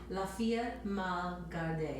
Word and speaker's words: La Fille mal gardée: How does this pronounce? Say it one more time. Fille mal Gardée.